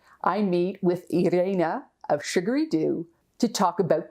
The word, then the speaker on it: Irene: Yeah, well, in English, I would just say Irene, because that's how you pronounce it in English, and I'm perfectly fine with it. But in Dutch, it's Irene. So we pronounce the, like the I, E, we pronounce it different than you would in English. So I would say Irene. That's the Dutch way of pronouncing it.